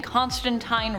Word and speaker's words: Constantine: I'm saying Constantine wrong, I am saying it the way Neil Gaiman says it, and he's taking the pronunciation from Alan Moore himself, one of the creators of John Constantine. So I'm gonna say it that way. But if you say teen, that's cool too. Say it however you want.